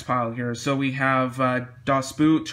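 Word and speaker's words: Das Boot: here so we have dos boot or dust boat if you kind of want to have the proper german pronunciation of that um i haven't seen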